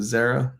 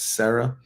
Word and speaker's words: Zara: Zarah, not Sarah.